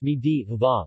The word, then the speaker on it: medu vada: medu vada pronounced me deva literally soft vada is